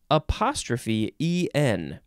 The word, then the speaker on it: e'en: It is spelled E'EN. E'EN. You say een.